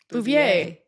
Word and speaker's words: Bouvier: Jacqueline Lee Bouvier Kennedy Bouvier.